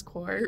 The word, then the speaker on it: corps: Did I pronounce corps right? Yeah, corps.